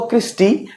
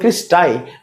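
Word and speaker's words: cristae: এস টি এ ই উচ্চারণ করবো ক্রিস্টি লেখার সময় লিখলাম টি এ ই তাহলে একটা হচ্ছে লেখার সময় আমরা লিখবো ক্রিস্টাই বাট উচ্চারণ করবো প্রোনাউন্সিয়েশন করবো কি কৃষ্টি এই যে এটা যেমন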